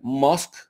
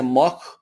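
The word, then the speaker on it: Musk: de Nicolás maduro porque no puede pronunciar mosk dice mock o mot pero que si tú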